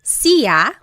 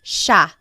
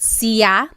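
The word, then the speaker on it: siya: It looks like it should be pronounced sa, but it's actually pronounced sha sha. There are some regions in the Philippines that might pronounce it sia but for the most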